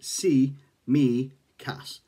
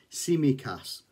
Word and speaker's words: Tsimikas: a squawker about constantinos simicas now in it it actually says that his name is pronounced see me cass so that's very very